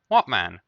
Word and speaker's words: Wattman: So you can't actually push it higher than that without, something other than how do you pronounce it? Wattman? Watt? It's a watt, no? Yeah, Wattman.